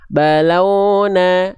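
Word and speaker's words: بَلَوْنَاهُمْ: melafalkan inna balaunahum itu adalah vokal u ya tuh ya inna ya inna balau lau vokal u jangan vokal o balauna ada yang melafalkan lin wau sukun tuh dia dibacanya o launa taubatan ah enggak tapi taubatan nasuha Jadi u vokalnya vokalnya U jangan jadi vokal O ya.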